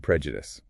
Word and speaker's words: prejudice: And prejudice. P R E. Judas. Watch that short e sound at the start.